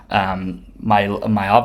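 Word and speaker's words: Maiava: Mailava, I think is how you say his name, and it's the USC quarterback.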